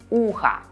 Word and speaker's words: ухо: As we spell o at the end, ухо will be neuter, not feminine, even though we hear a, ухо.